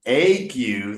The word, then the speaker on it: ague: It's not the "gu" that rhymes with "you." It's the "ague" that rhymes with "ague."